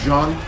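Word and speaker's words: Jeanne: In French, it's Jean.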